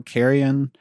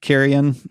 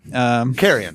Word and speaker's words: Carrion: Carry On. I'm feeling really weird about saying that out loud. Carrion. Carrion. It rhymes with Marion.